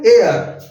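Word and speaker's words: heir: और ये है एयर, that is नॉट हेयर, ई एच ई आई आर, एयर means उत्तराधिकारी या वारिस, एयर टू द थ्रोन। तो यहाँ पर एयर लिखा हुआ है ए से एडी वाला, तो एन आएगा।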